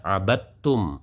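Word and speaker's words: عَبَدتُّمْ: zatnya huruf semuanya hilang, maka sudah tidak ada sama sekali dalam kedengarannya huruf dal, maka cara membacanya abadtum, langsung kepada tak.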